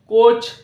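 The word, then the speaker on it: coach: letter আমরা উচ্চারণ করছি এবং এ লেটারটি এখানে সাইলেন্ট রয়েছে next C ও এ সি এইচ কোচ same আগের শব্দগুলির মতই এবার নেক্সট লক্ষ্য করো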